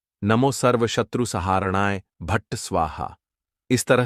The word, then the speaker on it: सर्वशत्रु: इसका उच्चारण इस तरह से है। नमो सर्वशत्रु सहारणाय भट्ट स्वाहा।